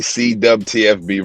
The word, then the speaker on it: CWTFB: So you can find me CWTFB Radio. I know it's spelled with a W. We say dub.